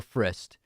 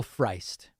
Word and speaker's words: Frist: Sam Cedar told me that when he was on Air America Radio, he started pronouncing the name of, I believe it's Tennessee former Senator Bill Frist, as Bill Freist.